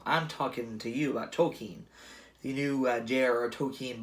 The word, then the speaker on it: Tolkien: about talking well I'm talking to you about tokine the new Jarrett okie and biopic and that's apparently how you actually pronounce his name I've been saying it wrong